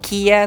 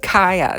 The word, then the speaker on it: Kaya: because we all thought you were supposed to pronounce her name like Kia, like the car, but no, you're supposed to pronounce it Kaya.